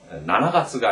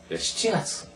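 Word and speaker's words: しちがつ: 이 중에서 월을 셀 때는 4월은 용가츠가 아니라 시가츠라고 하고 7월은 나나가츠가 아니라 시치가츠 이렇게 발음하는데 조심하시고 물론 7월을 나나가츠 해도 알아듣게 하죠.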